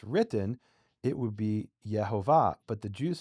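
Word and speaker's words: Yehovah: to explicitly say that if you take the vowels the way they're written in the Hebrew text, the name is pronounced Yhovah.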